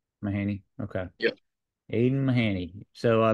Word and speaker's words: Mahany: stuff how do you say your last name mahany mahany okay yeah Aiden mahany so best place to